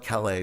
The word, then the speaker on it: Calais: That's spelled Calais, but it's pronounced Calais around here.